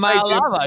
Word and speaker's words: Iamaleava: Emayalava, you're saying it right.